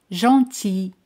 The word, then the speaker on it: gentil: Gentil. Gentil. L no se pronuncia.